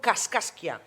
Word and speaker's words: Kaskaskia: casasia de la tribu kaskaskia es que me costaba pronunciar lleva tres cas y kaskaskia casasia exactamente por su